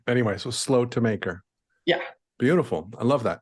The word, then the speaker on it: Slotemaker: episode nine with slope maker am I pronouncing that correct almost correctly it's slow to maker but it's okay hello